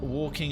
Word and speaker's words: walking: Because you don't say, like, it's not completely silent. It's not like waking and taking. That L lengthens the A to actually an O.